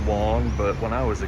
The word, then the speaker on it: Wang: This restaurant right here, Ravioli Wong, I believe W-A-N-G is actually pronounced Wong, but when I was a kid, we said Wang, and that was a slang word for a penis.